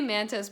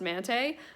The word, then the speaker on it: Mante: of my classmates, Mante, I say Mantis, but his name is actually pronounced Mante, so I need to get in the habit of saying Mante.